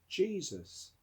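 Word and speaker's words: Jesús: means the same as jesus in spain and south america the name is pronounced jesus there's a spanish footballer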